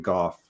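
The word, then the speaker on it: Gough: Kate is weighing in, saying her friend with the same last name pronounces it Goff.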